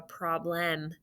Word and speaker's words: problem: vowel it's an e even though we don't say problem nobody hardly talks hardly anybody talks like that problem excuse me i have a problem it's problem all right clear frames we